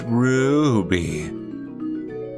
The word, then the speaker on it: Ruby: It's Ruby. You gotta say with a roo. Like, Aru.